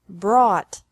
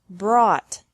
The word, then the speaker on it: brought: Bring, brought, brought. Buy, bought, bought. Catch, caught, caught. Fight, fought, fought. Seek, sought, sought. Teach, taught, taught. Think, thought, thought. Remember that the G is silent in these verbs.